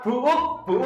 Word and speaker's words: buuk: Lah ini ada lagi kata-kata buuk atau buk ini? Buuk. Buk kita buk kan? Enggak, buuk G.